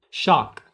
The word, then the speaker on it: shock: The second word, shock. Shock. Please remember to pronounce k at the end of shock.